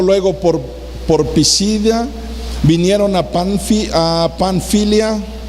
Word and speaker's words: Panfilia: Terminamos diciendo, pasando luego por Pisidia, vinieron a Panfilia. ¿Cómo se pronuncia? Pánfila, no, ¿verdad? Panfilia.